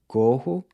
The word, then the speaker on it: corro: So you have corro, I run, which is pronounced with a closed O.